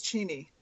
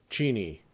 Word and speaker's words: Cheney: Cheney. Did I get that right? Almost. It's Cheney. Cheney.